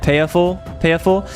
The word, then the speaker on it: pied fort: It's a French word. It's pronounced like, it's written like this. Okay, I'm learning all the things. If you look at chat, it's written like this, pied fort, but I think you say it payer-for.